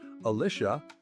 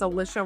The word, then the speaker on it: Alicia: a very special guest Alicia rhymes with. There's a. Yeah. No, it's Alicia. All right. Alicia here.